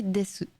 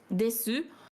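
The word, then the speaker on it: です: Ouais, parce que en fait en japonais, quand tu as un su à la fin d'un mot, on va très rarement le prononcer vraiment su. On va plutôt faire comme s'il y avait deux S à la place, donc des. Après, il y a quand même des japonais qui le prononcent desu, soit parce qu'ils ont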